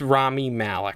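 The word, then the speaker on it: Rami Malek: you say his name not quite it's rami malik rami malik okay rami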